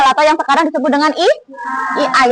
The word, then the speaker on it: AI: Coding dan kecerdasan artificial atau yang sekarang disebut dengan I II. Tulisannya A i bacanya I I.